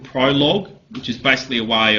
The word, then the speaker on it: Prolog: Prolog is first syllable.